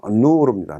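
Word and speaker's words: نور: 다음은 누르입니다. 누르. 니은 발음에 우가 있으니까 누라고 읽는데 그 다음에 와우가 있기 때문에 그것은 우라고 읽습니다.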